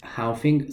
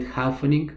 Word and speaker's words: halving: Many people call it halvening. This is incorrect. Halving.